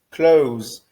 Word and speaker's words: close: Mas a pronúncia é close, close. Então nós paramos no som do Z, como se nós não pronunciássemos o E final nessas palavras.